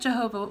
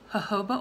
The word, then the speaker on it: jojoba: that by now so I might have said Jehovah oil but it's jojoba oil jojoba oil I'm not